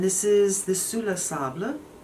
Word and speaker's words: Sable: is the su la sable i think that's how you say it because you say table table so it's spelt uh sable though and um there